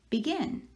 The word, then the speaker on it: begin: let's take that word we say vegan or begin or begin well we say begin so the second syllable is the one we are stressing or accenting and i'm gonna put an accent over that second part of the word begin all right let me get